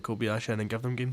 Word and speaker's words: Kobayashi: So, correct me if I'm wrong with the pronunciation. Is it Kobayashi? Kobayashi.